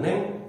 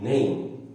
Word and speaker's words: name: belakangnya e bahkan dibaca seperti ey mata Bukan Neng Tapi name berikutnya juga sama ular dibacanya bukan snack tapi dibacanya seni ada huruf